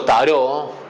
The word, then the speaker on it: tarot: después va a ser la T final que se sigue utilizando, y que si bien en castellano nosotros pronunciamos la T, no importa si digamos tarot o tarot, en el inglés y en otras lenguas es muda, se dice taro.